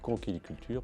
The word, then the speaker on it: conchyliculture: La vraie prononciation, c'est conchyliculture parce que nous venons d'une racine grecque.